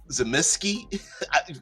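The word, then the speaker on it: Tzimisce: I pronounce it Zemise, whatever. Zemeski. How do you pronounce it? I don't know. All of them are appropriate pronunciations depending on where you're from.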